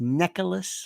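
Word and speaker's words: Necheles: I think it's pronounced Nicholas, like necklace.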